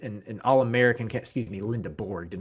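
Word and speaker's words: Lendeborg: Yaxel Lindeberg, an All-American, excuse me, Lindeborg, did not mean to mispronounce that, but a likely All-American candidate for Michigan.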